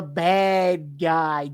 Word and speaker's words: bad guy: Sorry, no, it's pronounced Badgie. You know, I'm the Badgie. Never mind. I'm a bad guy.